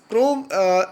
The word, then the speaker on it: crow: W is the consonant letter, and so it is crow. In crow, W will be silent. Crow. So O dominates on the consonant letter W, and only we can say it's CRO, crow.